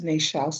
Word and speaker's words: Nechells: So before, when we were in Neychelles, because the Queen pronounced Nechells as Neychelles, so I know that was a proper pronunciation.